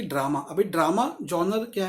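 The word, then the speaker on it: genre: जॉनर होता है style of film, कई लोग जॉनर कहते हैं, आई थिंक इसकी स्पेलिंग होती है GENERE, तो इसको वर्ड बोलते हैं जॉनर।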